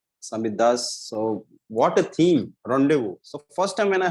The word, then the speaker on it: rendezvous: wanted to make sure because it's the french right what is written and pronouns is different okay so rendezvous so i even i urge everyone whenever you come for it make sure we pronounce the name correctly so rendezvous means we